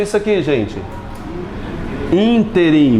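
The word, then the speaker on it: ínterim: Interim. Muita área jurídica quer pronunciar isso aqui nesse interim, fazendo uma paroxítona. Na verdade, interim. Você decora essa palavra que cai demais em prova.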